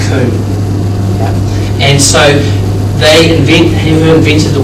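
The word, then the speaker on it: Comte: French writer Emile Durkheim, his predecessors, he thought was too speculative and vague, and that was a guy pronounced Kuhn.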